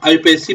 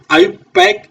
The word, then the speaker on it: IUPAC: यस बच्चे कोईकोई इसको आईयूपीएसी भी बोलता है तो आप कंफ्यूज मत होना आईयूपक इज अ करेक्ट प्रोनाउंसिएशन ठीक है तो आईयूपक